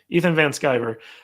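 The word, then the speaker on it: Ethan Van Sciver: you know he uh okay how do you pronounce it Ethan van skiver skyber okay Ethan van skiver uh he he was one of the artists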